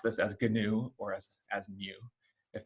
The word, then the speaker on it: GNU: the computer programming world we pronounce this gnu with a hard g and so one of